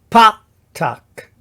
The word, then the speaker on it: Patach: And then we have pa-tak. So it's a short A sound, and ka-mats.